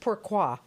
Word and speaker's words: Pourquoi: It means, but it's pronounced Porqua.